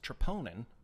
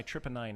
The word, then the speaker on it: troponin: let me explain to you that that's actually pronounced troponin and here's why it's important it's stripping and by the way yeah the doctor said my trip anion is high it but it's just as a